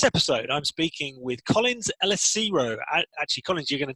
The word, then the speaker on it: Elesiro: And in this episode, I'm speaking with Collins Elesiro.